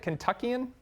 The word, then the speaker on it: Kentuckian: Is that how you say it, Kentuckian?